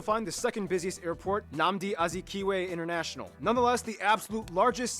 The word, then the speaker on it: Nnamdi Azikiwe: Here you can also find the second busiest airport, Nnamdi Azikiwe. Hear how you pronounce it. Nnamdi Azikiwe International.